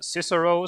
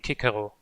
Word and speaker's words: Cicero: Is it Cicero? So like Xavier meant, or is it the Latin pronunciation, which would be Cicero? The Latin one, okay.